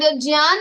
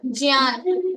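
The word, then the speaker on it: ज्ञान: And okay, and Jyan is correct pronunciation. Jyan.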